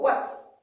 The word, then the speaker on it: what: Quand je dis Y, W-H, why? Or what? What is your name? Le H ne se prononce pas.